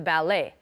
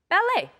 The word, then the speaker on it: ballet: love going to the ballet again we don't pronounce the T bere filet ballet okay and finally I